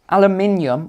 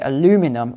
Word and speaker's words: aluminium: Aluminium, or as the Americans say, aluminum foil.